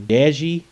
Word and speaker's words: Deji: the house and what is your thoughts on Deji is how you pronounce it aka comedyshortsgamer by the way please